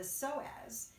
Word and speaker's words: psoas: these muscles called the psoas and the psoas it's spelled with a p the p is silent p-s-o-a-s and those muscles